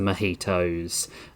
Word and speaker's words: mojito: Uh we sat on the riverbank and drank lots of beer uh and lots of mojitos and uh it's pronounced mojito.